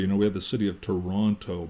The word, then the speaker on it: Toronto: have the city of Toronto. But if you look at it, Toronto, well, very few people ever pronounce that way. It's Toronto. That's how we say it in the West, or Toronto, or Toronto.